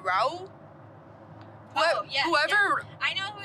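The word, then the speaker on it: Rauw: Raul? Whoever. Yeah. I know who you're talking about. I don't know how to say his name though. I think it's Raul or like something.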